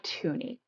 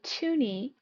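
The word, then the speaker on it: toonie: Now, along with looney, we have tuni. And tuni is the $2 coin. And it rhymes with looney.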